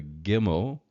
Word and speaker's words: gimmel: So again, the gimmel is the G sound, the hard G. There's no soft G in Hebrew. It's a hard G, gimmel, g, gimmel.